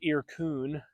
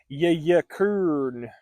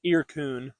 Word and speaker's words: Yyrkoon: And then he has a cousin named Irkun, spelled really cool. It's like, I think it's spelled Yyyrkr, no, Yyyrkoon. So it looks like Yayakern or something like that, but it's Irkun.